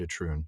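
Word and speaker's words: Itroun: recently the story of Kulervo and the lay of I I still think I'm going to mispronounce this every time but I think I manage it alru and atrun you did it right yay always get those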